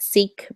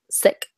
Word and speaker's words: Sikh: a it's I mean as Americans we pronounce it Sikh but in the Punjabi language they pronounce it um sick yeah religion yeah Wow